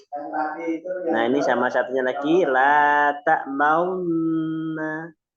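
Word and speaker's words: لا تأمنا: Nah, ini sama satunya lagi la ta'maunna. Bukan la ta'manna, tapi la ta'maunna. Jadi Oh, antara fathah dan wawu bergabung. iya, baru dengar. Fathah dan dhammah bergabung, maka di bacanya ismam.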